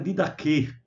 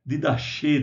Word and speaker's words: didaquê: Didaquê é não é didachê, né, como é transliterado na maioria dos dicionários, é didaquê, didaquê, né? É um qui. Então esse qui ele é aspirado na pronúncia, ele não é um CH, nem é um K. Ele é o didaquê, né? Aquele CH aspirado.